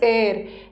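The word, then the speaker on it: heir: बट इसका pronunciation हेयर नहीं है। इसका प्रोनंसिएशन इज़ एयर।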